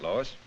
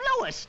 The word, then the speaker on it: Louis: story at the plant Lois Lois me name is leis not Lois J whiz everybody in toates me name wrong it's leis l o u i s Lois uh Louise Lucy